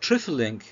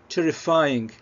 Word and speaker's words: trifling: يمكن نقول على فكرة ممكن نكون أنا نطقتها terrifying على فكرة، ده نطقها ما كانش مظبوط للأسف، ما كنتش ملاحظ ال L. هي trifling.